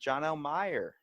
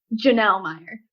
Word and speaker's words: Jonelle: I'm here with Jonelle Meyer. Hello. I said it right, didn't I? You did not, but that's okay. Wow, what is it again? Jonelle Meyer.